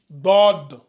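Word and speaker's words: ضاد: lui on va l'appeler DOD la même chose ici regardez j'écris d ici je mets un petit o en bas ici qui doit être subtile DOD DOD donc on a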